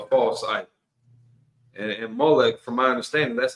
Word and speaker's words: Molech: And and Molech, from my understanding, that's not even a formal name. That's just kind of a generic title. Malik, it means king. I'm just giving a different pronunciation here.